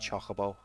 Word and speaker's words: Chocobo: by the way guys that's how it's pronounced Chocobo you need to hustle